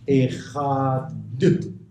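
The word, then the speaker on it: אחד: Echad. D'accord? On insiste sur le Dalet. On insiste sur le Dalet pour que, Chaz v'Chalila, on ne puisse pas croire qu'il s'agit d'un Resh.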